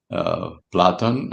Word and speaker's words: Platon: I also include um ancient Greece the teachings of um Socrates and uh Platon or Plato as calling in the west and Aris Aristotle or Aristotellis which is in the Greek.